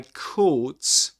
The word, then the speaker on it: caught: I caught caught. This is a long o sound in British English which is represented with this symbol.